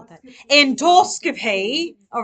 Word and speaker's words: endoscopy: Endoscopy. All right. If you say it in a British accent, it'll help you say it correctly.